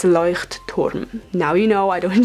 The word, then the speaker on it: Leuchtturm: I'm using the Leuchtturm. Yes, that's how you pronounce it. A lot of people use this brand and it's super good, but it's not Leuchtturm or whatever you want to say it.